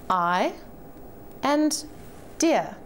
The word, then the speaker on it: idea: We have the syllables I and dear. Interestingly enough, the dictionary not only gives us information about the syllables, but also about which syllable should be stressed. Look again at the word on the screen. This little mark here shows us that the dear after the mark should be emphasized.